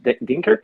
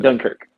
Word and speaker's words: Dunkirk: and um i don't even know how you pronounce that in english dinker denkirk thank you young kirk duncan dunkirk and uh that movie was great thank you